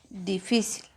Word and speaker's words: difícil: Luego tenemos la palabra difícil. Separamos difícil. ¿Dónde está la mayor fuerza de voz? En la sílaba que está tildada.